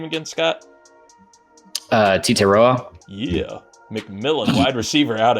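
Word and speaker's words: Tetairoa: Titeroa.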